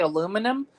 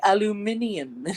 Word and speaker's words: aluminium: least the Brits say we say aluminum they say aluminium yeah Al Alum warmer